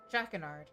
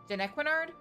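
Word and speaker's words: Jannequinard: to a lesser extent, Jackernard. Or Janikard. Oh my god, I've been saying his name wrong this entire stream. Janequinard? There we go.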